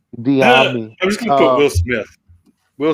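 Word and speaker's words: Dyami: Diami. Like that Will Diami. Smith. That Will Smith Miami music video. You guys remember that? Yeah, you just put a D instead of the M. Diami.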